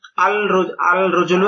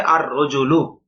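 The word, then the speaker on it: الرَّجُلُ: নাভাবে রজলুন আলিফ লাম আল রজুলু এটা ভুল কিভাবে আর রজুলু লাম উচ্চারণ হবে না এই বিষয়টা বুঝানো হয়েছে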